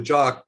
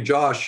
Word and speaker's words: Jock: lot of people uh they don't believe that my name's really jock so um they call me josh usually they i say my name's hi i'm jock they go hi josh i mean there's not a lot of people with that name it's a scottish name my dad was named